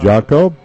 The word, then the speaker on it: Jacob: I think it's well, Jacob. It's J-A-C-O-B, and I use the traditional pronunciation.